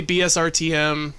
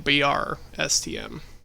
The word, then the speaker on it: BRSTM: So if I say BSRTM, I really mean BRSTM.